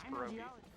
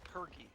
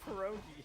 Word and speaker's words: pierogi: He was saying it pergy. Fergie. All right. Like Fergie? And it was like, it was something like, that's a precarious pierogi or something like that. And he's like, that's a percus pergy. I was like, Steven, it's not how you pronounce pierogi.